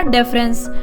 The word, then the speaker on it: deference: इसकी जो प्रोनाउंसिएशन होती है वो होती है डेफरेंस, और इसकी जो प्रोनाउंसिएशन है वो है डिफरेंस। थोड़ा सा स्पेलिंग में अंतर है। ये हमारा DEF से शुरू होता है और ये DIFF से शुरू होता है।